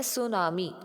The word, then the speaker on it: tsunami: ये Japanese word है अब सुनामी में देखो बेटा जो टी है ये साइलेंट होता है तो इसको हम बोलते कैसे हैं सुनामी ठीक है और ये